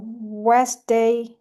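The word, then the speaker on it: Wednesday: So next one we have the letter D is silent in these words uh west day handsome handkerchief.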